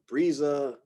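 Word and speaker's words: Briza: I think I go Brisa. That's one of those, the classical pronunciation of the I sound is more of an E sound, but the American English pronunciation tends to drift a little over to calling this I, right?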